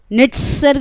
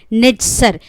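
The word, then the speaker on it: נצר: इब्रानी भाषा में ब्रांच जो है वो नेट्सर बोला जाता है। इब्रानी भाषा में नेट्सर, NETZER।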